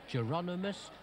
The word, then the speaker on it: Hieronymus: Имя часто произносят по латыни - Иероним или Хиеронимус.